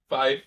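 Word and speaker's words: Fyffe: So you're originally from 5 feet. That's how you say it? Five.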